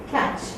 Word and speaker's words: catch: Suppose I say catch. Okay. What is the spelling I'm using? How do I pronounce it? I pronounce it less. Am I using the t sound anywhere? Then why did I write t there?